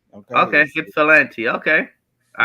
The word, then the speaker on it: Ypsilanti: Thank you, Edward, for you always come on here and explain how to pronounce that city. I appreciate Ypsilanti. Okay. Ypsilanti. Okay. Ypsilanti.